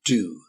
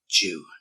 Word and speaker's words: due: English they pronounce it do. Yeah, it is do. So you might hear that on movies or any of these Netflix type programs, but in terms of British English, we would pronounce it Jew.